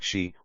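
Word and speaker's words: 嘻: associated with the spleen x i pronounced like she which connects the whole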